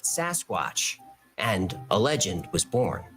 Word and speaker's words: Sasquatch: Mainstream media anglicized the pronunciation and called it Sasquatch, and a legend was born.